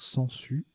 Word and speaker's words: sangsues: particulièrement compliqué à construire sangsues avec le G qui se prononce pas là puis aucun s à